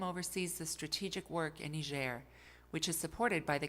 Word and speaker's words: Niger: Our first destination was the country of Niger, pronounced Niger, on the south side of the Sahara Desert.